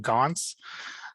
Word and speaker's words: Goncz: today we have with us uh dr karn gonz um is that how you say your last